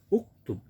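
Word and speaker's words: اُكْتُبْ: Nah, alif setelah kaf itu adalah hamzatul wasli. Berpisah bacanya adalah uktub. Ketika ada ka, maka hamzah wasli nggak dibaca jadi kaktub.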